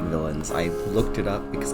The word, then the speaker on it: villeins: villains villains sorry yeah it is pronounced just like villains I looked it up